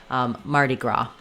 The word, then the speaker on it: Mardi Gras: The main stress is on gra here. Marty is a little faster, and gra is held a little bit longer. Mardi Gras.